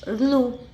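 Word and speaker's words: ऌ: अ, ई, उ, रु, ऋलु, इसका क्या है उच्चारण? ऋलु।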